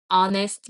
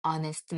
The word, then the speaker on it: honest: on old building on honest man 그래서 hest h 시작하지만 h 묵음 소리가 안나요 그래서 모음으로 보기 때문에 UN honest man 이렇게 됩니다 그럼